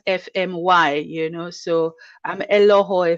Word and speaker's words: Efemuai: my marital name is f so i usually teach people to pronounce it f the letters f m y you know so i'm